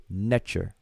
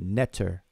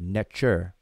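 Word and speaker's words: nṯr: And we pronounce this transliteration Netcher. Netcher. Some people pronounce it Netter, like N-E-T-E-R, Netter. But most of us pronounce it Netcher. That underlined T has a C-H sound, like church.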